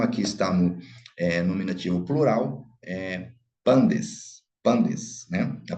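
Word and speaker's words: πάντες: está no nominativo plural, pandes, né? A pronúncia erasmiana, pantes, mas pandes, ok? Pandes, unir com o taf, dá o som de D, de dado, pandes.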